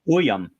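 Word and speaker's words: Buium: in Z be biome it's actually pronounced boam boo I had to look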